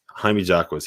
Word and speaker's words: Jaime Jaquez: Is that how you pronounce it? Yeah, Jaime Jaquez.